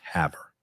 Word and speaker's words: Havre: With that out in Baker, Montana, and Havre. Okay. So, and you spell that or sound that like you can have her.